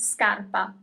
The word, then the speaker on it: scarpa: So, it's always hard like a little bit tricky uh between sharpa scarf and scarpa. That is shoe in singular.